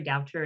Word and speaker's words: Doucher: Terry Doucher is how you pronounce my last name.